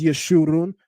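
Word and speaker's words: ישו: and it makes an ooh sound. The in the maseretic text they place the kubut's vowel marker underneath this letter so that we would know how to interpret this properly to not only pronounce it as Yeshu, but that it would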